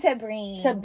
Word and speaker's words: Tabren: Tabren.